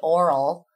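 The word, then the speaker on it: Aurol: His name is, I suppose, DJ Oral. So, but it's spelled. That's pleasant. Yeah. Which is what's the selling point for me when he told me. I was like, well, all about it. But he spells it A-U-R-O-L.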